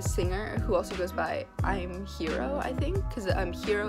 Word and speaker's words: Im: It's not Lim Young-Woong. It's Im, like the L is silent.